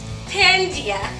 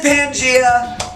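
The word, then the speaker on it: Pangaea: Age the ice age that no jeez pandia yes P you put the wrong emphasis on the wrong salab it is Pangia um you did awesome with all those questions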